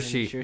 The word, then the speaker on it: Saoirse: Saoirse Ronan. Is that how you say his name? Saoirse, yeah.